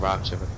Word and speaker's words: router: I never turn my router off or routes as the America some Americans say it um never turn my